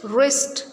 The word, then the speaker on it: wrist: When W comes with R and K comes with N, they will not be pronounced.